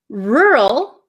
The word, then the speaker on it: rural: no they don't so the first one rural my mouth barely moves R it gets tight for the r r rur the second word is